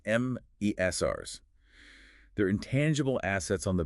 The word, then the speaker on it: MSRs: MSRS pronounced Mesrs.